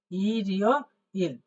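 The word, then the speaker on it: 일요일: হচ্ছে হইলো ইল এই হচ্ছে ইয় ইল তাহলে উচ্চারণটা হবে ইরিও ইল ইরিও ইল তাহলে আমরা বুঝলাম এই যে প্রথমে রবিবার কথাটা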